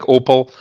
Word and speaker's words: Opel: The German car it's pronounced kind of like Opel, but it's spelled OPEL, and it was the European arm of General Motors.